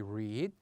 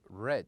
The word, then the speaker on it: read: and we said that if we want to pronounce it in the present we would say read but in the best we would say red so this is the